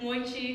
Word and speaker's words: mochi: My mother tried to teach us love of red bean paste and bonbao and mochi, pronounced like moichi because that's how her parents said it.